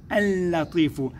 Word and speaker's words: اللطيف: اللام الأولى لام شمسية لا تنطق، وإنما الذي ننطقه هي اللام الثانية المشددة. ننطق الأولى منها نقول اللطيف.